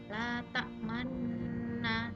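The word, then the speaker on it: لَا تَأْمَنَّا: Lafalnya la ta'manna, sebenarnya nunnya tasdid, tapi cara membacanya itu la ta'man, seperti ada domah di waktu kalian membaca nun tasdidnya.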